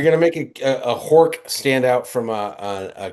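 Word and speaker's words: Horch: But if you're making a Are you Is it pronounced Hawk? I was always Hor.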